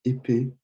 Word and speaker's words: épée: une fable, a fable; une épée, remember these aigus and the pronunciation of the E elongated a little bit; une épée, same thing here, or une épée is a sword, sorry.